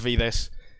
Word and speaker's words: Vides: It's pronounced Vides. It comes from wine, so I'm proud of it.